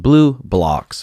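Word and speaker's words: BluBlox: Pronounced Blue Blocks, blue light glasses.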